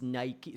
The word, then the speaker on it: Nike: It is Nike.